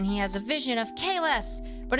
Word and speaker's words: Kahless: That is Kahless, whose name was originally pronounced Kales the first time he's mentioned in this show.